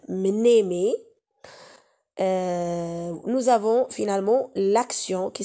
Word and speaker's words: mnémé: La mémoire, mémé, et ça s'écrit M-N, mnémé.